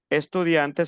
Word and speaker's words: étudiante: Estudiante se dice je suis estudiante. Para el femenino se pronuncia la T final.